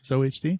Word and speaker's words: ZOHD: and zohd is that how you say it zohd ZD yeah yeah yeah zoh HD all right